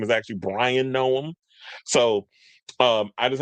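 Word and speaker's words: Bryon: I called him Byron which I just did. His name is Brian. B R Y O N.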